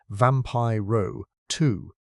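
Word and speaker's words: Vampyroteuthis: He named it vampire twius infernalists pronounced vampire row two.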